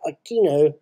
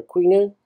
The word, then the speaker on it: Aquino: 25th of February 1986, on Corazon Aquino, or Aquino? Aquino, I think it's pronounced, sworn in as president of where?